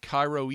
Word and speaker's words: Cairo: in cairo georgia it's spelled like cairo egypt but pronounced like karo syrup if i was from